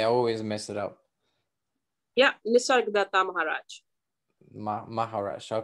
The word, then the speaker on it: Nisargadatta Maharaj: So the going back to that book, I Am That, how do you pronounce his name? I always mess it up. Yeah, Nisargadatta Maharaj.